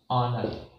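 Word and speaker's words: honour: ऑनर, तो यहाँ पर एच साइलेंट हो जाता है।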